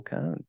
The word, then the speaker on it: Cohn: be joined on this episode by Dr Neil cone Dr Cohn thank you for jumping in and